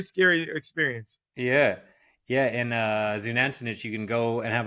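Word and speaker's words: Xunantunich: Zunantinich.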